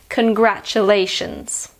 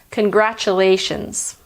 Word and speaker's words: congratulations: snapchat works I think some people struggle with this word because of the first syllable which is pronounced can and not con and because of the T which is pronounced sure there is also the tion which is pronounced tion I'll now say it slowly Kern Gras Chu Lai shuns congratulations the American pronunciation is